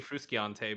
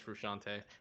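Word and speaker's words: Frusciante: right the guitar yeah i think it's technically frustrante but everyone says frushante he's such a great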